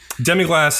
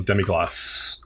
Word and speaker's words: demi-glace: is a fantastic place it's Glatt glasses the French pronunciation so demi gloss okay demi glass humbug